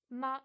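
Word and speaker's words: 吗: Ma, il n'y a pas de ton, donc le son il est court, il est coupé.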